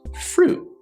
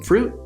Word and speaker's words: fruit: when we're speaking fluently we don't actually pronounce that t sound we just say fruit would you like some fruit what's your favorite fruit